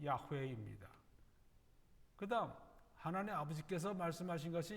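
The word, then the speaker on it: 야훼: 이것을 이제 다른 성경에서는 영어 성경에서는 여호와 혹은 제호바 이제 번역을 했습니다 원래 올바른 발음은 야외입니다 그다음 하나님 아버지께서 말씀하신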